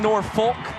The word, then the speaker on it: Norfolk: I know it looks like Norfolk.